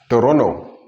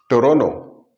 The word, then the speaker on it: Toronto: This T goes silent. This T doesn't matter and an H appears. Toronto. Toronto. Or even Toronto.